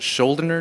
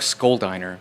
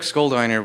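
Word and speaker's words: Schuldiner: Chuck, uh, I think his last name is pronounced Scherer. Chuck Schiner. I always say Chuck Scholiner just because it sounds silly, but Chuck Skoldiner was the frontman to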